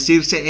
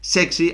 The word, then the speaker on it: Zirkzee: se dice Joshua sirse no es sirse es sexy así lo decía él en en un vídeo en el que bueno pues hablaba sobre cómo se pronunciaba su apellido dicho esto como siempre